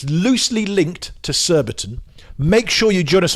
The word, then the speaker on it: Surbiton: Surbiton rhymes with Warburton. Nearly.